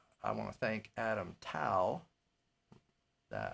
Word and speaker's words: Tao: And so I want to thank Adam Tao, that I mispronounced his name the other day. It rhymes with now.